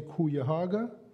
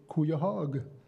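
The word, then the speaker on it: Cuyahoga: telling you about is some say kuya haga some say cuyahog falls ohio and again that's uh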